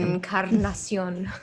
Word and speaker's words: Encarnacion: Encarnacion.